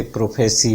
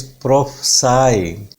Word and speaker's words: prophesy: प्रोफेसी आपने सुना होगा कहते हुए, वर्ड प्रोफेसी नहीं है, this is नॉट प्रोफेसी, the word is प्रोफसाई। बहुत ही टिपिकल प्रोनाउंसिएशन है, पाप स्ट्रेस है, मेन स्ट्रेस पाप ही रहेगा, बिल्कुल सीधा ही है यहाँ से।